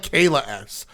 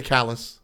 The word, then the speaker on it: Callus: Well, if anybody looks at that, it looks like Kayla S. I thought your support player was a woman named Kayla S. So I pronounced it Kayla S. But incorrect. I fixed it to Callus.